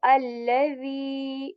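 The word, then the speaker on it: الذي: Because this the is very soft, and we pronounce it when we put the tip of our tongue on the upper lips, on the tip of our upper lips, and very softly. Okay, we say allazi, the.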